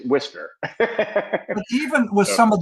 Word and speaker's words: Worcester: We pronounce it Worcester. Okay. It's almost like that Worcestershire sauce. Mm-hmm. If you look at the pronunciation, it looks like it's Worcester, but it's Worcester.